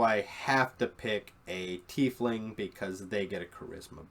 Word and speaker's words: tiefling: And you have your tieflings. I've also heard it pronounced tiefling, but at my table we generally say tiefling.